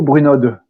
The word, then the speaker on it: Brunod: Et B comme Bruno, Bruno ou Brunod? Alors, c'est un nom des Alpes, c'est Bruno. On ne prononce pas la finale, mais j'ai l'habitude, c'est pas grave, c'est comme vous voulez.